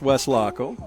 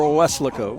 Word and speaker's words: Weslaco: I always assumed it was, when I ever saw Weslaco on a Texas state map, I said, okay, it's Waco with an ESL in it. But I understand it can be pronounced Weslaco. Yes. Or Weslaco. Weslaco.